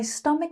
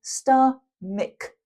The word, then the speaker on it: stomach: And the pronunciation of this word is stomach. Kuh kuh kuh sound.